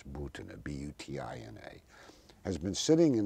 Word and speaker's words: Butina: Incidentally, as we talk, this young Russian woman, Marina Butina, sometimes pronounced here Butina, but it's Butina, B-U-T-I-N-A, has been sitting in an American prison